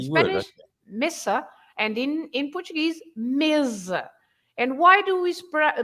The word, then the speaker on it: mesa: S, in Spanish, and they are pronounced with Z in Portuguese.